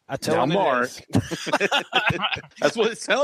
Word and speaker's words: Namor: Namor. That's what it sounded like you were going to say. Namor.